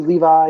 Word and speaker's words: Levy: I always say Levy, Levi. It's Levy. Half the Battle this week,